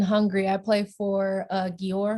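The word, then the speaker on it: Győr: i play for uh george hungary or york hungary that's how you pronounce it um so i've been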